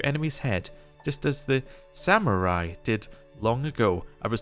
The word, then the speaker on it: samurai: head just as the samurai did long ago I was told I said that wrong apparently I've been putting a y in the word don't know